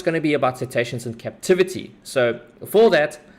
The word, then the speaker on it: cetaceans: Today we're going to be covering okay, please, KP, before I embarrass myself, how do you pronounce that term? Cetaceans? Cetaceans.